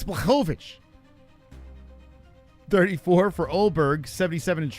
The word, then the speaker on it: Blachowicz: Some people can't say his name. It's Blovich.